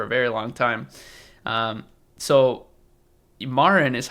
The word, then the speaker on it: Marin: So Marin is how you say your name, right?